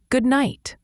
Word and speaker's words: good night: Similar to good morning, the D in good is often very light or silent, and night has a long I sound, like in light. It's not a strong T at the end, often a quick stop.